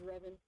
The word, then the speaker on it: Revan: At least the official English pronunciation of it is Revan.